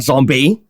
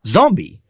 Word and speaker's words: zombie: again it's the AAA but it's not zombie that sounds like flambe it's zombie or zombie if you want to do the a okay but the stress is on the o not on the a or E it's zombie zombie zombie e e zombie it's clearly stressed it's just as wrong